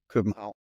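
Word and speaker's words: København: a couple of English movies they use that pronunciation but it's Hagen Copenhagen Copenhagen we say Copenhau that's right yeah I've heard of that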